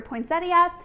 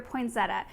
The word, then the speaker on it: poinsettia: ways you might hear poinsettia and you might hear poinsetta I do think it's regional I grew up saying